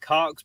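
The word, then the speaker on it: caulk: By the way, ladies and gentlemen, cock is spelled C-A-U-L-K. Cock.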